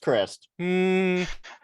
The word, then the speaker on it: Christ: name is christ christ that says it's pronounced crist it's german come look at this